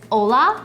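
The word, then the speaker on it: olá: And then hello is ola, but it's actually not an h o l. It's just o pronounced the same way.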